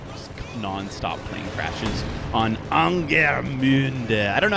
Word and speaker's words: Angermünde: The thing is, I'm bad with my U umlauts, you know. Here, Angermünde. It's hard. You gotta really wrap your mouth around that word in a way that no American ever would.